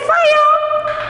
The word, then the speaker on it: fire: See, children, fire. Fire. Fire. It's not fire. Don't pronounce R.